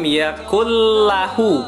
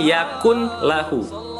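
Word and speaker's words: يكن له: Walam yakullahu kufuwan ahad. Yakullahu, bukan yakun lahu. Kalau yakun lahu itu izhar, jelas ya, seperti kufuwan ahad.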